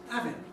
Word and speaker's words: having: And, well, you see, the first thing is, in real life, people drop H's in Britain. A very common pronunciation of the word having is having.